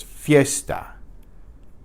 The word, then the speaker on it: fiesta: the strong vowels so any combination of two vowels that contains at least one week vowel is going to be pronounced as a diphthong a vowel blend so let's look at a few examples ie is yay the ia is yah and the IO is yo so we have these words Fiesta Fiesta not Fiesta its Fiesta the vowels blend together una Fiesta una fiesta